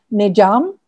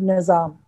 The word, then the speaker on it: Nizam: And also with great affection, Khusro referred to Nizamuddin as Nijam, because Nijam is the Khadi Boli pronunciation of the more literary word Nizam.